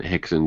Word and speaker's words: Rixon: find a new friend hixson greasy it's spelled Rixon but it's fast hixson it's that's weird what